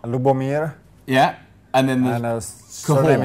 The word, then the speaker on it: Lubomir: We're joined by, now, let's get the pronunciation of this right. Lubomir? Lubomir.